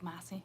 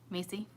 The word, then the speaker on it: Macy: You say it like Massey. Macy. It is Macy, right?